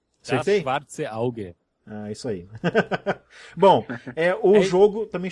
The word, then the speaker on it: Das Schwarze Auge: eu ver se eu não destruo muito a pronúncia, Das Schwalge Ausa, é isso? Errei tudo. Errou tudo. O nome certo é Das Schwarze Auge. Das Schwarze Auge. Acertei? Das Schwarze Auge.